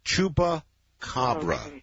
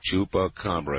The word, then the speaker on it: Chupacabra: The name of this animal is Chupa Cobra. Chupra Cobra. Chupacabra. If I can do anything, I'm going to get people to pronounce it correctly.